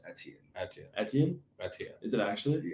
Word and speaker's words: Etienne: No, it's Etienne.